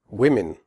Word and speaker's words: women: Women. The O in women has a different sound than the O in the singular form woman. In women, the O is pronounced I, as in the word win.